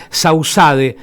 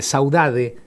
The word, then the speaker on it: saudade: Ana Ana Paula eh Ocampo, fotógrafa, miembra miembro de la red Sausade. Eh, y bueno, vuelvo al mismo, el Instagram, Sausade. Sausade, así como suena. sausade. E eh Saudade Saudade, perdón, saudade.